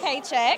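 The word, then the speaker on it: Pechak: my name is paycheck hey paycheck that's my real name I know is it really paycheck that's really it's Yugoslavian it's crazy right how you spell it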